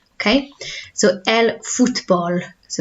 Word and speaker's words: fútbol: So, el fútbol, so it's not foot, it's foot, okay? The U sound, el fútbol.